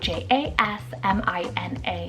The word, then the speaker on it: Jasmina: Another one here that's floral inspired, we have Jasmina, spelled J-A-S-M-I-N-A, Jasmina.